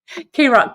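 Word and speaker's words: KROQ: K-Rock, K-R-O-Q. That's right. Thanks, Kim. For some reason, I couldn't spell it.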